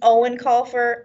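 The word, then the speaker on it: Eoin Colfer: is Artemis Fowl by I think it's actually pronounced Owen call fur I'm not positive it's very Irish I might be getting it wrong but we're gonna stay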